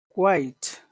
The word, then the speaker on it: quite: one Patu uh so quite that's good very good quite quite uh Muhammad the first sound is a little bit longer than the second sound the second sound is very small qu qu quite quite